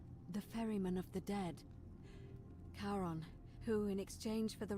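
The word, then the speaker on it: Charon: as you described it only your pronunciation is a little off the name you heard wasn't karen it was c-h-a-r-o karen ah caron the ferryman of the dead karon who in exchange for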